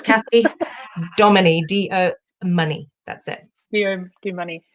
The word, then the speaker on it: Domoney: yeah teddy yeah yeah it's it's do money if you're trying to